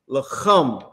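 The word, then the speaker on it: לחם: The lakam you talking about is lacham. Lacham. That's the other ka. That's the one that's harder to pronounce. So that one is lacham, which is bread, right?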